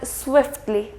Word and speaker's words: swiftly: For example, the word softly and swiftly.